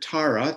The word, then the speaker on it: Tara: So the we have the word tara t a r a long a which is she's quick.